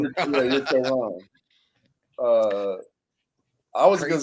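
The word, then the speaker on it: Kaôh Rōng: Co wrong. Like you're close. There's just like a G on it, like co wrong.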